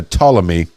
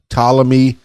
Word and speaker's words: Ptolemy: a direct descendant of I think the p is silent p-t-o-l-e-m-e it's a Ptolemy uh the first solder